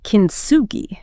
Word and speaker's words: kintsugi: And she mentions this Japanese art form called kintsugi.